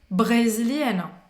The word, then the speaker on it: brésilienne: Je suis brésilienne. Eu sou brasileira. Presta atenção também. A pronúncia vai terminar no de brésilienne. É como se ela terminasse no N.